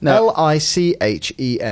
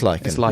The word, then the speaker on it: lichen: L I C H E N. It's lyen. So, it is Lyken. That's how I pronounce it as opposed to He always thought it was pronounced lichen.